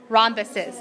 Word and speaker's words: rhombuses: that do are called rhombuses now when you're thinking about rhombuses i like to think in my head roham bus' so I don't forget that silent H there okay okay true or